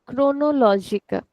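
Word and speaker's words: cronológica: For example, the word chronologica. Chronologica. So if you look at how we are pronouncing this, we are saying crow crow. So I'm not saying chronolog. sound is like R.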